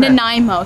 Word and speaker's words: Nanaimo: Nanaimo.